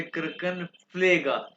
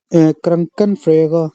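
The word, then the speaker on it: Krankenpfleger: क्रंकन ब्रूजा नहीं कहते, उसे क्रंकन फ्लेगा, पी भी साथ, क्रंकन फ्लेगा, पी भी साथ प्रोनाउंस करना है, क्रंकन फ्लेगा, क्रंकन फ्लेगा। कैसे प्रोनाउंस करो भी एकदम बना से, क्रंकन फ्रेगा हाँ क्रंकन फ्लेगा, मेल नर्स क्रंकन फ्लेगा, ठीक है।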